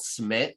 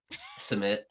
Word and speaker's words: Simit: There's a really good bread called smit that's like circular with a bunch of seeds on it. That's delicious. Simit. It is spelled Simit.